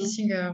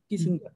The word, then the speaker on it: Gissinger: Giesinger, c'est comme ça qu'on Ouais. prononce bien ton nom. Ouais. On dit Giesinger, ouais. Giesinger. Euh, on se connaît toutes